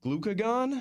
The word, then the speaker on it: glucagon: Uh, glue glucagon.